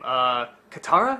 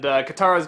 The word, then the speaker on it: Katara: Katara?